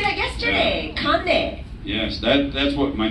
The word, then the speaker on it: Kane: But yeah, and you know, when you're young and you try and tell people that your name is Kane, they never pronounce it correctly. It becomes Connie.